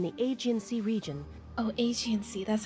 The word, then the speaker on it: Aegean: Oh, Aegean Sea, that's how you pronounce that.